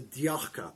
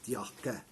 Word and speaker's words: Tjakke: here which is the diaka boot spelt what is all speller t j a k k e for those of you that are from sweden i apologize for my pronunciation i think it's yakka and like i said